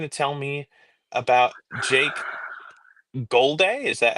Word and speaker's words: Golday: And today, Ian, you're going to tell me about Jake Golday? Is that how you pronounce it?